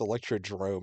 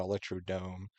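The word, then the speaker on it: Electrodrome: it could be also a lot of people pronounce the name wrong it's Electro drone not Electro Dome um I like where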